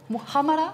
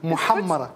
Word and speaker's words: muhammara: You pronounce it so beautifully. Nice huh. How do you say that? - Muhamarra . Almost. Muhamarra .